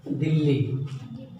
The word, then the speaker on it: दिल्ली: द्वित्व व्यंजन वो व्यंजन होता है जिसका उच्चारण 2 बार किया जाता है, एक बार आधा एक बार पूरा। जैसे दिल्ली शब्द लिखते हैं तो दिल्ली में दिल्ली लिखते समय वो दी आधा ला ली, दिल्ली एक बार आधा